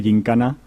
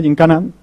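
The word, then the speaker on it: yincana: y resulta que pues han decidido que se dice gincana y que se escribe, ¿no? como lo escribimos, ¿no? Con Y-I-N-C-A-N-A, ¿no? Pues ya es algo aceptado, gincana en castellano.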